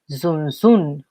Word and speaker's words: zunzun: And a word in Taíno that has a Z sound is zunzun, and zunzun is a type of hummingbird found in Cuba.